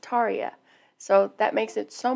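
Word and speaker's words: Tarja: learn somebody left a comment and said it's pronounced Taria so that makes it so much easier for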